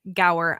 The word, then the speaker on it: Gower: guest on today and his name is Brian go I hope I did not completely like just